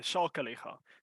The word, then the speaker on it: Sakeliga: Yes, it is Sakeliga, so no worries on the pronunciation there.